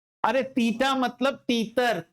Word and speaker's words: theta: अरे थीटा मतलब तीतर, त थी, था। इसमें थ का उच्चारण है बेटा, थ मतलब था, थीटा।